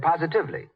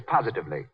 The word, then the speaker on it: positively: Mary Jane said positively. The word is positively, as in, the way Lux Flakes cut down stocking runs is positively miraculous.